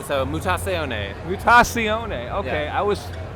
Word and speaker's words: Mutazione: It's Mutazione. Mutazione. Pretend it's like a kind of a fake Italian word. So Mutazione.